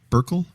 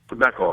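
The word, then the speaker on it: Beckel: commentator on Fox by the name of Bob burkel Beckle I mispronounced it Beck he's he's a li very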